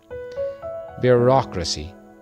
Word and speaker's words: bureaucracy: Bureaucracy.